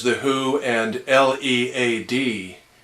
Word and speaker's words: Led: says The Who and l e a d Zeppelin so still pronounced lead but um I'm afraid